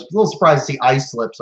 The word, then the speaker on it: Islip: was supposed to say eastlip so i was a little surprised to see ice slips i guess it's pronounced like island but there you go